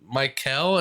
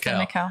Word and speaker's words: Mykel: Mykel, is that how you pronounce it? I'm sorry. It's probably Mykel. It's Mykel. Oh, Mykel.